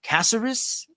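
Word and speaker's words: Caceres: taking on Alex uh casserus is how Luke Thomas pronounces it I guess that's how you're supposed to be saying it this was a three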